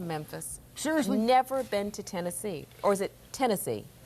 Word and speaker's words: Tennessee: it Tennessee it's Tennessee Tennessee the uh uh Tennessee not not like not like the conac but like the state you know it's not henness it it doesn't rhyme with Hennessee it's Tennessee Tennessee but Memphis okay town